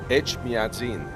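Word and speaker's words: Etchmiadzin: how to say the name of the cathedral H madin H madin yes yes okay I heard it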